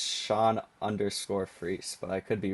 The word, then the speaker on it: Fries: Initially, people probably thought, and I thought this, too, it was Sean Fries, but no. Yeah, it's free. I I wish that my last name were pronounced fries.